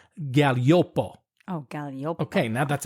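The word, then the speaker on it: Gaglioppo: And it's mostly made from a grape called Galliopo. Oh, Galliopo. Okay, now that's another tricky word to pronounce.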